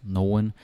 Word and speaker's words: nogle: And about nogen, yeah, most of the time in real life you're gonna hear it as nogen, but of course it's spelled nogle.